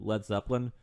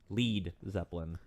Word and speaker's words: Led Zeppelin: Which, kind of when I think about that, I go back to Led Zeppelin. Led Zeppelin omitted the A from their name as they didn't want Americans to pronounce it Lead Zeppelin.